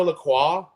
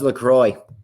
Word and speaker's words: La Croix: We've been saying it wrong. Holy shit! That was LaCroix. It's not LaCroix. LaCroix. This shit's made in Wisconsin. What do they like to play in Wisconsin? Lacrosse. Lacrosse.